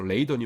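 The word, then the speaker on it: Leiden: 조금 좀 설명을 드리자면 요걸 라이덴이라고 읽는 분이 굉장히 많아요. 왜냐하면 그 독일어식으로 하면은 이 아이가 그 아이 발음이 나야 되니까. 근데 요거는 독일 도시가 아니고요. 네덜란드에 있는 도시입니다. 그래서 레이던이 맞아요.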